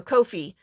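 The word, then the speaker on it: Ko-fi: say it's supposed to it rhymes with no fee so Kofi anyway so the Kofi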